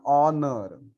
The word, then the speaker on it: honor: So yeah, in this case, the spelling starts with the consonant because H is not a vowel. H is a consonant, but pronunciation it sounds like a vowel.